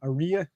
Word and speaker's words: Aria: like a Maria so basically Aria rhymes with it's like Maria without the m is what you're saying Maria without the M Maria Maria without the M Aria yeah he's like that